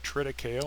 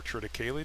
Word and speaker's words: triticale: purchase areas, 3 new crops, alfalfa, rye, and triticale, or triticale, depending on where you're from and how you choose to pronounce it.